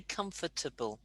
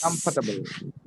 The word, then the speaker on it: comfortable: three syllables don't say comfortable remember when we when we pronounce this word we only pronounce it like it's got three syllables like comft and it's just like